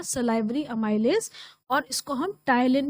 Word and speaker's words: ptyalin: Amylase, और इसको हम टाइलिन भी प्रोनाउंस करते हैं। स्पेलिंग इसकी PTYALIN है, पी से स्टार्ट हो रहा है, बट we pronounce it एज टाइलिन।